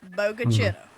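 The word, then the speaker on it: Bogue Chitto: There's a lot of chalk Indians down here, meaning big creek or large stream, and it is pronounced bogacitt.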